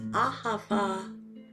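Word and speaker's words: אהבה: be using the words ahava, which means love in Hebrew. It has 3 syllables, all with an ah, because ah is meant to open the heart.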